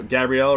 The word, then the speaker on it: Gabriel: the season then they gave it to gabrielle gabrielle right that's how you say his name and